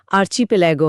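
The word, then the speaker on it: archipelago: 137 वां शब्द है आर्चपेलागो द्वीप समूह। A large body of water with many islands. इसका सही उच्चारण आर्चपेगो है।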